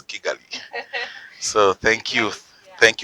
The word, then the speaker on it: Kigali: I am told that you guys pronounce it as Chigali. Kigali, yes. Yes, but Yes. where I come from is Kigali.